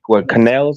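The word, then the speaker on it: Canales: fixer um what's my man's name uh Dave canel that's how you pronounce last name but um he has such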